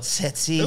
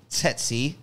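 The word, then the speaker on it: tsetse: the set seek fly you sold setsi now that's spelled t-s-e-t-s-e tetsy and they ain't sexy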